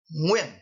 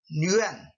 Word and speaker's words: Nguyen: last name when so Vietnamese would pronounce win and Nguyen differently tree the sound yeah